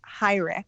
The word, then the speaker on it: Heurich: organization so actually um although you're pronouncing the name correctly in the way a German person would say it um it was changed